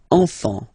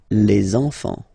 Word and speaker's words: enfants: Same pronunciation here. Enfant. Don't pronounce the T, you don't pronounce the S. Enfant, okay? And now we can focus on the liaison here. So you should make the little link.